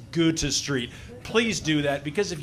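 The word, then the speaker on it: Goethe Street: Park it's Millennium Park it's not go street it's go to Street please do that because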